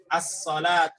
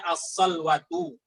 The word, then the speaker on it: الصلوة: As-salatu. Jadi bacanya as-salatu bukan dibaca as-salwatu.